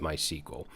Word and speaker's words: MySQL: Let's talk a little bit about what MySQL is, or MySQL. Some people pronounce it MySQL.